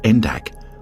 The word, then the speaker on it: NDAC: and Activity Center poly known by his acronym and pronounced endak opened in the former